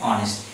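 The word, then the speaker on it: honest: তাহলে এক্ষেত্রে কী হবে, এন অনেস্ট, এক্ষেত্রে কিন্তু এইচ এর উচ্চারণ আসছে না, অ।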